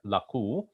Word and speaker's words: لَقُوا: So we're going to make it laqulladhina, even though it is marked with a bar, which means it's a long sound. And in Arabic, it is spelled with a waw, which indicates the long vowel there, laqu. But here we're going to make it short to join it with the next word.